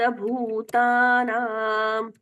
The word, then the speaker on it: भूतानां: नमः समस्त भूतानां, नमः समस्त भूतानां, भू दीर्घ, ता दीर्घ, ना दीर्घ।